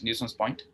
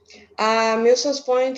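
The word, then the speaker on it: Milsons Point: I say, is that how you spell it? Newson's Point? Milson's Point is Milsons.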